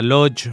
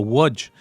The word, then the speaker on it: Łódź: En la entrega anterior habíamos empezado a hablar de una ciudad importantísima llamada Lodz, o pronunciado en polaco Łódź, de la cual vamos